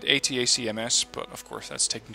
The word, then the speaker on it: ATACMS: an abbreviation for but considering it's an actual abbreviation you should be pronouncing it atacms but of course that's